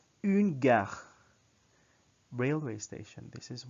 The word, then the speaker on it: une: Next, une gare. Again, when you pronounce the une, it's as if you're pronouncing in while your lips are prepared for the pronunciation of O.